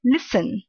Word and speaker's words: listen: the last one is the letter T is silent the first one is listen not listen listen listen